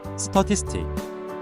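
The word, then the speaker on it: statistic: 스타티스틱, 발음은 스터티스틱, 가운데 티스에 강세를 줍니다.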